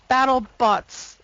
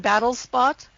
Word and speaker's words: BattleBots: BattleBots. I've been saying Battlespot.